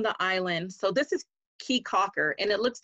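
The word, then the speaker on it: Caye Caulker: we were on the island so this is key cocker and it looks like k conquer but it's pronounced key cocker i would have never known there's that creole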